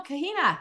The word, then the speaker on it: Kahina: day oh wait no kahina is that I I probably just totally butchered your name tell me how to say your name prop properly hi no it's correct and that sounds Hawaiian